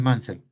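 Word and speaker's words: Munsell: tal como dice acá tabla de colores munsel así se escribe entonces podemos darle colores mansal pero se escribe así escribanos así como está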